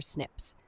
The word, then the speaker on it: SNP: A SNP pronounced SNIP is a single nucleotide polymorphism representing a difference in a single DNA building block at a specific position.